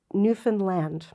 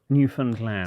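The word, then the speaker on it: Newfoundland: is from here it's Newan land Newan land so they emphasize the land but it is Newan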